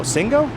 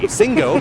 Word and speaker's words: Singo: guess is music Bingo Singo sing with a hard G Singo music Bingo and more